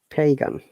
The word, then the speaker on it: pagan: dictionary what it says pagan pagan okay let us listen to it pagan pagan pagan if you don't pronounce the p correctly the pagan will sound like vegan okay so got to